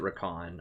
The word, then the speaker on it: Rakan: Technically, they pronounce it Rakan.